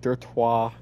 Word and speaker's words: Dirtoix: three of them like i was pronouncing it in my head like lacroix when the silent x at the end and it makes it